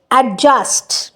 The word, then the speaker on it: adjust: না, আমরা প্রোনাউন্স করি নট, তাহলে কের কোনো প্রোনাউন্সিয়েশন হচ্ছে না, এটা নোট করুন, এটা এখানে একটু টাইপোগ্রাফিক্যাল মিস্টেক হয়েছে। তারপর হচ্ছে অ্যাডজাস্ট, অ্যাডজাস্ট, আমি ডি বলি না, আমি বলি না